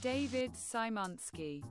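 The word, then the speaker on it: David Szymanski: Insert pronunciation of name here, please. David Simonski cuz I can't say it and I've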